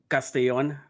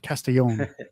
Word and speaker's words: Castellon: you how do you say it it's it's pronounced castillon yeah it's it's uh it's closer all right well I won't I won't mispronounce it anymore castillon there you go is that right that's perfect